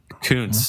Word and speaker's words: Kuntz: real name too right Coons is his real name yeah Rusty sometimes it's PR it's pronounced differently I'm sure you guys can guess how it's pronounced it is spelled k-u-n-t-z he's still coaching for